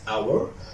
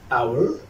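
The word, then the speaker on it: hour: and if it comes before all such as our our our and such as honest honest honest also central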